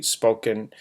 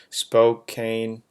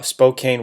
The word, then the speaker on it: Spokane: about two hours away I don't know if I pronounce that correctly spoken Spokane uh Spokane Washington anyway um I have